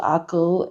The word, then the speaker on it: Aqqal: But let's do tool number 3 first, which is one of my favorite AIs called Akil. It is spelled AQ.